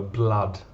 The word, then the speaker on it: blood: you know the word blood be careful of the pronunciation you have double o but the sound is ah the same sound as up so blood there was blood all